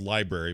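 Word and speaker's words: LBRY: can go directly to it's called library but it's spelled lb ry dot TV just search for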